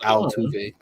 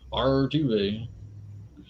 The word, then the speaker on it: Altuve: Why would you roll your R for Altuve? Artuve.